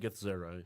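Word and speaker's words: Githzerai: Yankee and Gith Zerai. Yep. Yes. If I'm saying it right. You are correct.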